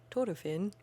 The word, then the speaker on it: Thorfinn: But in the anime, whenever somebody pronounces it, they always roll that. They roll that R hard.